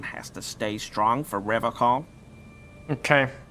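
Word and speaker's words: Revachol: But someone has to stay strong for Revocol. Okay. He pronounces Revocol with a hard K, unlike other people.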